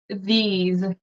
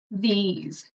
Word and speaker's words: these: do you pronounce so the th tongue between your teeth but it's a voice it's a voice teach so you want vibration so the these it's like a z sound these these these oh I guess